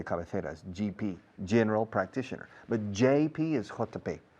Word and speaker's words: JP Morgan: Recordad, G is G, J is J. Hay una empresa que se llama JP Morgan, un banco de inversiones. JP, JP, JP, JP. Curiosamente, hasta muchos empleados de JP Morgan en España dicen GP.